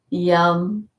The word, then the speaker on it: Yam: Yum, Y-U-M for the heart.